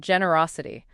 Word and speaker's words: generosity: All right, next up we have generosity. This is a personal favorite. How do we say it, Zia? Generosity. The stress here is on the Ross syllable.